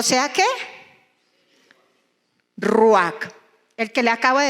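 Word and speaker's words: רוח: Y cuando nosotros buscamos en el hebreo el significado de espíritu, o cómo se escribe espíritu, que es ruach, que es con J al final, ruach, que se puede traducir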